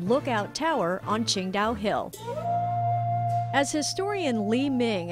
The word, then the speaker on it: Qingdao: better known to drinkers around the world as Ching da when German Workers built the local Railroad and